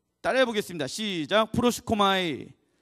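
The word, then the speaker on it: προσεύχομαι: 이 발음이 잘 안 돼. 프로시코마이. 예, 따라해 보겠습니다. 시작. 프로시코마이.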